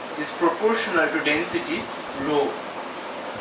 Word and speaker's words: rho: So this is what I have written here, that pressure P is proportional to density rho. The pronunciation is rho, it's a Greek letter.